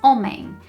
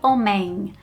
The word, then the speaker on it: homem: But it would actually sound more like an n or an n g. So, it would be homem, homem, not homem.